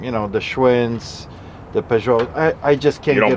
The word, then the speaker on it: Peugeot: Oh God, it's Peugeot.